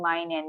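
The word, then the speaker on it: 毎年: And then for every year, mainen. Again, mainen. You could also say maitoshi if you want, but I know you'll be using mainen because it's shorter and easier to remember, right?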